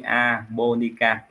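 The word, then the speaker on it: japonica: khoa học là Sora chữ j này Mình đọc là y ha anh chị i a ha chứ mình không đọc là g ha Mình đọc là y a bonica Nó thuộc họ Đậu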